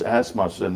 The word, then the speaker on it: Asmussen: And then down at the fairgrounds this winter, they made a real point of checking out, and it's Asmussen.